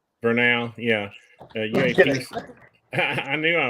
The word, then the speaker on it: Vernal: I still can't pronounce it. Utah, where I believe it's Vernal. Vernal, yeah.